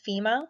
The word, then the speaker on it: FMEA: Sometimes people pronounce this as FEMA.